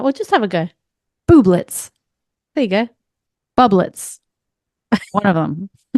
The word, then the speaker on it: Bublitz: I didn't ask her how to pronounce her last name. Yeah, well, just have a go. Bublitz.